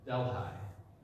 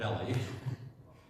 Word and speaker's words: Delhi: That's how they say it in Louisiana, Delhi. In India, they call it Delhi. But it was Delhi in Louisiana.